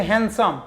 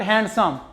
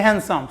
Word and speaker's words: handsome: handsome strikingly handsome means it should be pronounced handsome not handsome it is handsome strikingly handsome means um